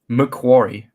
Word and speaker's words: McQuarrie: McQuarrie, Oh, Macquarie.